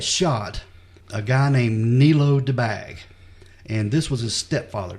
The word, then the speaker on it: Debag: His name is pronounced Debag, Debag.